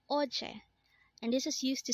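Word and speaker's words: 어제: OJ again this is pronounced as Oche and this is used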